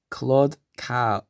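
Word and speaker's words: Claude Cahun: Oh man, it even tells me how to pronounce it. Claude Cowie.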